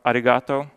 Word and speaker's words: Aggregato: It's actually pronounced Arigato. The G's are silent.